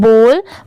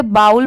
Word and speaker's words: bowl: ये है false, FOWLS false, जैसे BOWL, इसे हम क्या पढ़ते हैं, बोल। बहुत सारे लोग इसे बाउल पढ़ते हैं बट वो रॉन्ग होता है।